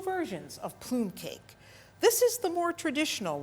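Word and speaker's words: plumcake: Today we made plume cake. That's how the Italians pronounce it. Plum cake. It's really a pound cake. And we made 2 versions of plume cake.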